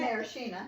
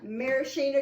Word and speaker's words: maraschino: um now marcilla how do you say that maraschino maraschino cherries uh when i cut them uh you